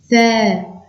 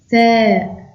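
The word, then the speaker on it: ثاء: Elif, Elif, Ba, Ba, Ta, Ta, Tha, Tha. Ici, on doit mettre la langue entre les dents. Tha, Tha, Jim, Jim, Ha, Ha, Kha.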